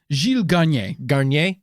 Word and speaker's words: Garnier: with this pronunciation delays garnier garnier yeah like this like the shampoo garnier was a french